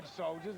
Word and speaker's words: Dawgsouljahz: Or Dawgsouljahz, excuse me, it's spelled differently, D-A-W-G.